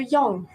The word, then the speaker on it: yang: le yin et le yang. Mais le yin-yang, alors on dit normalement in, comme s'il n'y avait pas de y, in, et yang. On prononce toutes les lettres. Y-A-N-G. Yang.